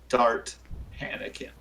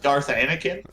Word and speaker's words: Dart Hannikin: Archmage Dart Hannikin. And don't enunciate the T too much and slide it into the. What, like Darth Anakin? Yeah, say it like that.